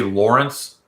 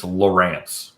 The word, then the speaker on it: Lowrance: lawrence someone corrected me i used to say lawrence and it's lowrance right is that correct lowrance